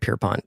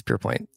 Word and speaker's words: Pierpoint: I keep calling it Pierpont. It's Pierpoint.